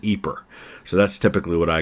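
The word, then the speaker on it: Ieper: IE p r and they pronounce it eer so that's typically what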